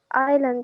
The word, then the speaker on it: island: Okay, and the S, is it silent or not silent? كيف ننطقها؟ هل ننطق فيها ولا ما ننطقوش فيها؟ Iceland. ما هو الS silent. Island يعني.